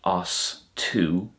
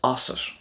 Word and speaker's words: asat: And then it's not os to, it's osset.